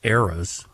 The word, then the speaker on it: Eras: Her tour, John, pronounced Eras.